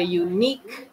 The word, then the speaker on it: unique: Tapi kalau yang bacanya kayak pakai huruf Y di depannya, Y kan huruf mati ya. Nah, jadi di sini a unit, a unique building, nah itu kita pakainya Jadi nggak pakai en.